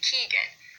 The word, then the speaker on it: Keegan: And you'll notice with all of them, we say the first syllable just a little bit louder. We say Keegan, not Keegan.